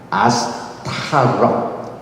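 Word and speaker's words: עשתרות: 여기서 아스토롯, 여기 보니까 아인, 신, 탑, 레이시, 탑, 아스타롯 발음이 되죠?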